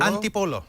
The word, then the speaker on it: Antipolo: And Chris is on the line from, and you better pronounce this for me, is it Antipolo? Antipolo.